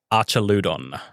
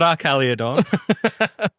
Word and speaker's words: Archaludon: Archaludon. Arcaladon. Archaludon. Not Arcaliodon. Not whatever you said.